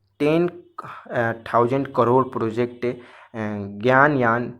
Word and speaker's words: गगनयान: Sorry, मैंने यहाँ पे प्रोनाउंस गलत कर दिया था, ज्ञानयान शायद मैंने बोला यहाँ पे। ओके, तो ये गगनयान होगा।